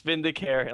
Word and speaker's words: Vindicare: Yeah, it's Vindicare, and I just slapped an X at the